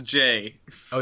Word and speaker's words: Jai: the news ja Paul is it jao how do you pronounce it it's Jay oh it's Jay oh [